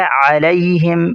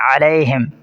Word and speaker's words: علیہم: غیر المغضوب۔ آگے ہے علیہم، یہاں بھی خیال رکھنا ہے، اس کو اکثر لوگ مجہول پڑھتے ہیں علیہم، یہ غلط ہے، علیہم۔ آگے ہے ولا